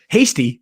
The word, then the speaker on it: Hasty: But Hasty himself, his name rhymes with tasty, so that's cool.